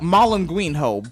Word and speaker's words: Malagueño: Yep, Malagueño.